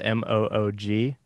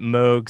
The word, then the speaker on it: Moog: so uh there's a a moog bass which is spelled m-o-o-g and moog as a bob moog was sort